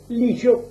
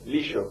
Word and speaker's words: Lillo: Peñalillo es el apellido, ¿cómo se pronuncia? Lillo. Lillo. ¿Sabe por qué? Para los argentinos Para somos Lillo. seístas, ¿no? Ladrillo, Sí, caballo. lluvia, Caballo. Por eso, sí, Lillo.